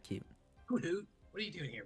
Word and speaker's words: Hoothoot: It's Hoothoot. No, it's hoot hoot. And there's even the one owl like remember thing. Hoothoot for you all. No. It is. It might be spelled Hoothoot, but it's pronounced Hoothoot. You know it. There's no space bar Oh, there.